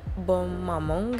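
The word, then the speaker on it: Bonne Maman: terenak menurut gue namanya bangmaman nah ngasih jadi dia bahasa Perancis gitu namanya bom mamong gitu bacanya tapi gue bacanya sama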